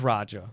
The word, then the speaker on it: Raja: It was Raja.